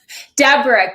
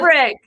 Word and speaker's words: Debrucque: Debrucque, but that is Debrucque. That is the common way to pronounce it if you're not sure, is Debrucque.